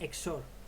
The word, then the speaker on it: XOR: acá esta se llama operación operación exor o exor pero se pronuncia exor Entonces cómo Qué significa